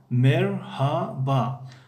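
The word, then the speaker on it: merhaba: مرحبا این طرز تلفظش است یعنی یکی از طرزهای تلفظش. باز هست مرحبا یعنی ه تلفظ نمی شود. در بعضی از مناطق ترکیه یا که در بعضی از شهرهای ترکیه یعنی مرحبا میگویند. مرحبا باز یعنی مرحبا یعنی هر دو رایج است یعنی هم مرحبا و هم مرحبا.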